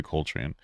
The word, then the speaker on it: Coltrane: I'm going to look up for a pronunciation so I can do him justice. Robbie Coltrane. Oh, I was right. Robbie Coltrane.